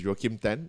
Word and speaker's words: Joachim Then: With my name is Joachim Tan. That is spelled as JOACHIMTHEN.